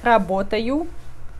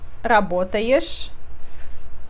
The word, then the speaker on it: работать: Я работаю. Ты работаешь. Он, она работает. Мы работаем. Вы работаете. Они работают. Nesse verbo O é sempre sílaba tônica, então O fica O. Não muda som para A, não. Работаю, работаешь.